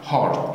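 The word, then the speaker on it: heart: نوز برين هارت ايوه هارت الكلمه دي يا جماعه بتتنطق هيرت يؤلم او يؤذي او يعور انما دي هارت قلب خلي بالك.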